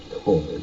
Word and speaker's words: Chord: Oh, it's Hopefully it's pronounced Cord. it is.